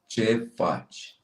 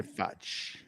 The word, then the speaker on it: ce faci: phonetically. That was impressive. Krampus. I would say Okay, now say it slowly. Ce faci? How did I do? Yeah. Now say it without your shirt on. Ce faci?